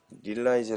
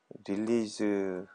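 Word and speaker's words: release: 이거 얘기하시는 거죠 어 보통 이거를 릴라이즈 아고 발음 안 하고 릴리즈 라고 얘기합니다 이거는 이제 릴리즈는에 프로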